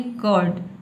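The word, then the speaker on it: curd: आपको बोलना है कर्ड। कर्ड। ठीक है? र को साइलेंट रखना है।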